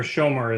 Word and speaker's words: Schomer: represented by Schomer is it shomer is that correct uh yes uh Mr chair shomar is is how you pronounce my last name yeah he's at uh